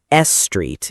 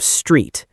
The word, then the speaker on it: street: Many learners want to add an extra vowel sound to make the word easier. Yes, like saying S street instead of street.